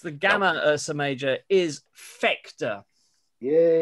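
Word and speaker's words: Phecda: The third brightest, the gamma Ursa Major, is Fector. Yay. How do you say that again? Fector. Fector. It's P-H-E-C-D-A. Fector. It's not far from sphincter.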